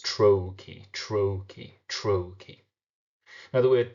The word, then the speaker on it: trochee: always remember what a trochee is the sound of the word trochee actually reveals its meaning. Trochee. A trochee is one stressed syllable followed by an unstressed syllable.